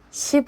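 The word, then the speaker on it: 십: There's a scene where Sim Eun-seok, played by Kim Hye-soo, is called "Judge max (Sip Eun-seok)". (10's Korean pronunciation is sip.)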